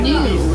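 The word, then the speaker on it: gnu: Now another name for a wilderbeast is a new. That's g nu. They get it from the low grunting noise that they make that sounds like the word new.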